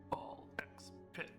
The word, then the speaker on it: BALLxPIT: Ball X pit. I don't really think the X is pronounced in this game, but I like saying it that way because I can.